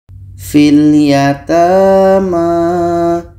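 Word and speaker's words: فِي الْيَتَامَى: Namun pada akhirnya, huruf Fi ini dibaca pendek karena terhubung dengan huruf yang tidak diucapkan . Kami membaca fil yatama. Fil yatama. Huruf 'i' dibaca pendek karena terhubung dengan huruf sukun.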